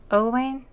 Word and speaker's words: Owain: so I paired her with how do you pronounce his name owain owain owain and they're adorable together they are